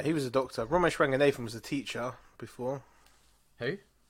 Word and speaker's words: Ranganathan: Ranganathan. Ranganathan, yeah.